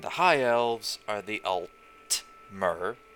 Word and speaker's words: Altmer: m ER and the high elves are the alt mirror spelt alt and er slight difference and well